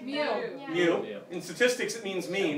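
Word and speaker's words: μ: Mu. In statistics it means mean, that's right. It's pronounced mu.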